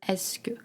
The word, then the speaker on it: est-ce que: The spelling is a little, tricky if you see it written. It's EST-C space QE, but the pronunciation of this letter is est-ce que.